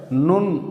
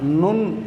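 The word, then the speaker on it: נ: இந்த எழுத்தை நுண் அப்படின்னு உச்சரிக்கிறோம்.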